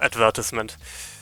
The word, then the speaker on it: advertisement: Because it has like 4 syllables, and usually in a 4 syllable word, the second syllable is pronounced with like emphasis is on the second syllable, if I remember correctly. Obviously, nobody pronounces it that way, but it's still stuck in my brain because of that. So sometimes my brain just wants to pronounce it as advertisement.